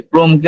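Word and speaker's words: Chrome: এই ক্রোমকে আমরা অনেক সময় শ্রোম বলি, এই বলি সেই বলি, বাট এটা সঠিক উচ্চারণ হচ্ছে ক্রোম।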